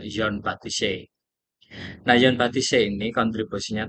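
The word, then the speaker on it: Jean-Baptiste Say: Ee karena ini adalah tokoh dari Perancis biasanya ee di dalam bahasa Indonesia pengejaannya adalah Jian Baptiste gitu. Nah, tetapi akan kita apa ucapkan dengan Yon Batise.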